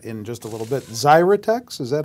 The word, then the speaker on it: Xyratex: more about that in just a little bit zyex is that how this is pronounced yes xrx the ticker symbol what do